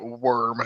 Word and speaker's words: wyrm: See, I always thought it was pronounced Wyrm. I just want to know how it's pronounced. Um, I'm not sure if it there's is, then my badsies. No, it's funnier this way. I know that Chris Perkins, one of the major writers for Dungeons and Dragons, pronounces it worm.